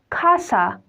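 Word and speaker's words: casa: means to drink the it depends whenever the comes with the vowel sounds like uh o a e o o I mean a e i o or U at its sounds are totally different from each other as an example a the sound is co like Kasa means house the E uh it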